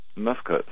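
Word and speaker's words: mfkzt: Now, you speak to great length in Lost Secrets of the Sacred Ark about something that you call, I can't even pronounce it, Mifkut? Mifkuts, yeah.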